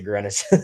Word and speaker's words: Greenwich: were playing with uh Greenwich Green Witch but they actually pronounce it Grenwich Um, but they like